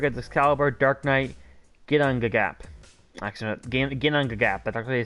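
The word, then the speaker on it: Ginnungagap: Actually, Ginangagap, that's actually how you say it.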